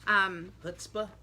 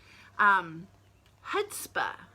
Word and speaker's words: chutzpah: The C is silent.